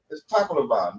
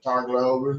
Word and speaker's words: Tacloban: If you say it correctly, it's Tacloban. But if you just a regular redneck, you'll say Tacloban. Oh, okay, yeah. Well, Yeah. that's how they pronounce. That's how my girlfriend pronounces is Tacloban. Yeah, they Yeah. accentuate the middle part of the word, Tacloban.